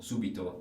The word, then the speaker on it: subito: also similar to Veneto subito the accent is on the first syllable or the third last and not on the second last that's a similar category